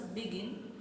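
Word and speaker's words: begin: Examples, बिगिन, stress falls on the last syllable गिन. बिगिन तो गिन पे हम थोड़ा ज़्यादा स्ट्रेस कर रहे हैं.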